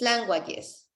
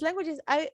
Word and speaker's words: languages: The correct pronunciation is languages. Yes, it's languages.